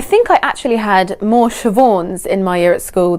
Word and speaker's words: Siobhan: So the official pronunciation of this name is Siobhan, but obviously you can name your baby whatever you want to name it.